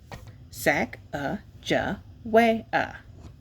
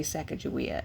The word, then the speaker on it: Sacagawea: a fancy name Sacagawea you say it like this sak JA way okay they say second your way it can be Sacagawea as well later miss glass has